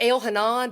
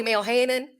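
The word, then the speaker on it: Elhanan: I was reading and I pronounced them the way that you would pronounce them here not in Israel so it's Bassam Airman and Romney it's I found out it's Al Hanan but I call him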